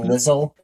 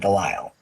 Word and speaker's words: DeLisle: And it's probably That's spelled not- Delizzle, but she says it Delisle.